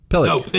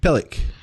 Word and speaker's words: pillock: ] pronounce them properly fill up pillock that's what I said pillow it look like it yes pillock it's not harsh aiyah he's